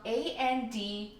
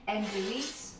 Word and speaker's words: Andouille: Typically the sausage used is called, and I don't know if I'm pronouncing it right, but it's spelled Andouille, like andouille. I think it's pronounced andouille, but I'm not sure.